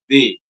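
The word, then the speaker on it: des: And the and the third one which is used before any plural noun will be pronounced as they.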